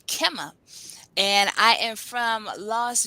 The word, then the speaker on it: Qimmah: Well, my name is Qimmah, and I pronounce it Qimmah, although the correct pronunciation for my name is Qimmah as well.